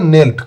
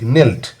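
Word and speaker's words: knelt: এর past form হবে নেল্ট কে এন ই এল টি বানানটা একটু খেয়াল রাখবে কে এন ই এল টি নেল্ট এরপরে অ্যাক্টিভিটি 13 তে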